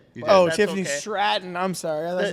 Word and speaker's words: Stratton: Uh, Tiffany's Strap on versus Jake Carill. Hey, remember Tiffany's a min. Did I say her name wrong? You did. Oh, Tiffany Stratton.